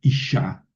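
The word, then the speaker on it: אשה: Por ejemplo, isha, mujer. Ojo que aquí debe de llevar una dagesh en la segunda consonante, en la shin. O sea, hay dos shines, hay ish, sha.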